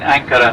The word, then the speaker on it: Ankara: Even the elderly people of the town still call this city Angora instead of Ankara, the way we pronounce it now, Ankara. We have about 3.5 million people living over here in Ankara now.